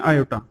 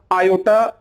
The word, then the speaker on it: आयोटा: English में बोलते हैं आयोटा, ठीक है। थोड़ा सा लोटा जैसा प्रोनाउंसिएशन होता है, कि उच्चारण जैसा लोटा निकलता है, तो आप ध्यान रखिएगा आयोटा, इसको हम लोग इससे